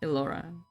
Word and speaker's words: Elora: I didn't say Laura, I say... Ignore the captions. Laura! I hope you're... I think your name's pronounced like that, right? Elora.